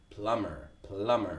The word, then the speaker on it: plumber: The plumber. The B is silent. The B is silent, not plumber, but plumber.